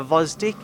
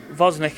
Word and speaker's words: Gvozdyk: Gvozdyk is that how you say it? Gvozdyk.